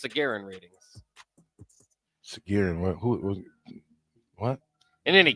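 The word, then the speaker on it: Sagarin: based on uh the sargerian sargeran ratings based on what I think it's pronounced sargeran readings who what in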